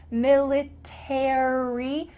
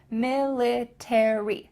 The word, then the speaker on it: military: military make sure that in american english you pronounce those final three letters military same with the word